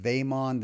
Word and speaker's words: VEJMON: Ikea it's called the vague mon or veg mon in Swedish I believe it would be pronounced vaiman that J would sound like a y but don't try that